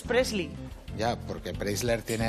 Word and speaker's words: Presley: Claro, uno es Preisler, la madre de Tamara, y el otro es Presley. Ya, porque Preisler tiene R y Presley no. Presley y otro es Preisler.